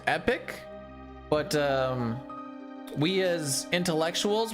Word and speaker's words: Epoch: Technically, it's pronounced epic, but um we as intellectuals will always call it the epoch.